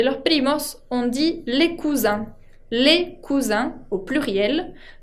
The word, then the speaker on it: cousins: Ahora, para hablar de los primos, on dit les cousins. Les cousins, au pluriel, termina con una nasal, la I con N, que se pronuncia un, como el número 1.